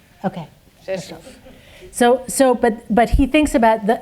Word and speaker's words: Rzeszów: You spell it RZESZ with an O with an accent. Rzeszów. Okay. Rzeszów.